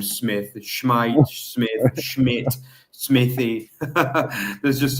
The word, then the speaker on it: Smith: And it was Buchalfa who slotted in for Irvine, and actually Schmeidt, the guy you could call Eric Smith, but he's Swedish. It's actually pronounced Eric Schmeidt.